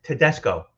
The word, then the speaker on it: Tedesco: Tedesco.